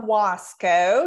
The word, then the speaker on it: Wasco: It is Wasco. You were very close. My niece says we say it like Costco. So okay, I like that. Easy to remember, just no T in there.